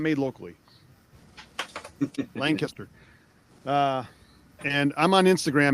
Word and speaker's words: Lancaster: Got to say it right. Lancaster. Like lister. If you say Lancaster, you're you're not from there.